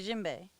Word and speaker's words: djembe: The D is silent. Like a djembe.